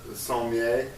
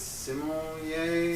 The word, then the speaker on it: sommelier: Or with the wine, he also talks about with using sommeiler. Am I pronouncing that right? I think it's sommelier.